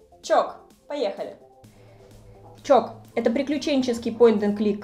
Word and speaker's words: Tsioque: лицо рандомными английскими буквами потому что произносится это все очень даже легко чок поехали чок это приключенческий